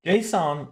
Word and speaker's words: JSON: JSON, or some people pronounce it like name Json, stands for JavaScript Object Notation.